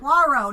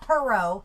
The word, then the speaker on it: Poirot: Poirot, not Perot. Poirot. Poirot. Yeah, I know it's Poirot.